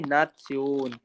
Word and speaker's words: Nation: ये लिखा है नेशन, ये लिखा है नेशन, बट इसको जर्मन में प्रोनाउंस कैसे करेंगे, नात्स्योन, नात्स्योन, नात्स्योन।